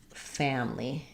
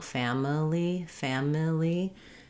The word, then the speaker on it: family: When I really want to reduce on this syllable here, almost all the way down to just family. I think that's the most common error I hear here, where that people will spend too long, family, instead of just family. So it can almost be 2 syllables rather than 3.